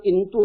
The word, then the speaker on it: इंतू: परंतु त्यानंतर ह्युएनत्सांग आपल्या ग्रंथामध्ये असं म्हणतो की जरी प्राचीन काळात भारताचं नाव शिंटू असेल किंवा हिंताव असेल तरी सध्या त्याचं शुद्ध उच्चारण इंतू असं आहे.